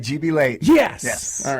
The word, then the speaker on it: GB Leighton: GB Leighton, sir, how are you? I'm doing great. Thank you for having us. I'm saying the name right? You're saying it right, GB Leighton.